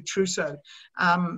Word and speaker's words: Trousseau: And forgive me, I'm just calling it like the French do Trousseau, because of what you said earlier on.